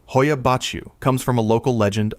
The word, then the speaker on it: Hoia Baciu: Pronounced Hoia Baciu.